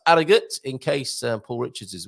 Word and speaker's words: Harrogate: Tailors of Harrogate, you don't pronounce, just like the Portuguese, actually, you do not pronounce your H's in Yorkshire. So that's Harrogate, in case Paul Richards is watching this morning.